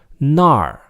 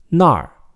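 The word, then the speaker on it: 那儿: And make sure that you know the difference between 那儿 with a fourth tone, meaning there, and 哪儿, meaning where, with a third tone. 那儿, 哪儿, 那儿, 哪儿.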